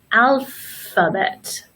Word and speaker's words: alphabet: But when we have the letter combination of PH together, that is going to make the same sound as F, like telephone and alphabet.